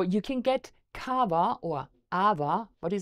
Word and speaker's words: awa: and and the poia it's not called Cava it's called AA um so the original